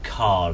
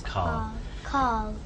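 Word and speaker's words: Karl: It seems like without an R. Yeah, I think it's my accent rather than. I think you said it right and I said it.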